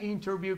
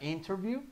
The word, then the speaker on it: interview: La palabra interview, como también pasa con internet, normalmente cuando va después de la N y una T, tiende a omitirse un poco en la pronunciación. Usted podría escuchar interview con la T, o